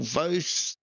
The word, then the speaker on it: Vose: Boyd, Darren Linus, Michael Vose. So I've been told is how to pronounce his surname, so apologies to Michael for last week.